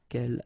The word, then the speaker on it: quel: good news is that if you listen carefully, quel, quel, quel, quel, okay, so phonetically you get only one form. Of course, when you get this S, well, if you've got a vowel after, then you will have to make this liaison. But then clearly the basic form like that, phonetically it's the same.